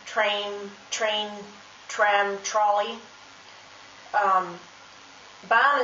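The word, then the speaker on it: Bahn: for example the word ban which means uh track train train tram trolley um bond is spelled um ba b-a-h-n and because there's an h the letter a has a long pronunciation this also counts if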